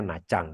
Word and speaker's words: Nha Trang: Tulisannya Nha Trang, tapi bacanya Nha Trang.